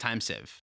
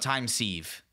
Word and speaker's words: Time Sieve: looking at it but I'm pretty sure it's pronounced time save it's not time sieve like C as in like Spanish for yes and then Eve like like the eve of no New Year's either